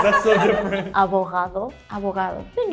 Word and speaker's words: abogado: Abogado. Abogado. I think it's quite similar, right? The H. Yeah, she has more the H sound, and you pronounce more the G.